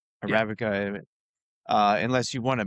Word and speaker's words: Arabica: Arabica.